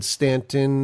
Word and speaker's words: Staunton: the locals say. It's in Stanton, Virginia, I believe. Oh, yeah, but here we call it Staunton.